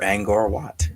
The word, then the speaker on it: Angkor Wat: It's Angkor Wat. Angkor or Angkor Wat. Yeah. I've heard it pronounced both ways.